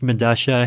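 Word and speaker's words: Medellín: I believe it's pronounced Medasha. It's a South American subway station. I forget where. But spelled with two L's. Yeah, because that's how Spanish works, right? Like the two L's have Madasha.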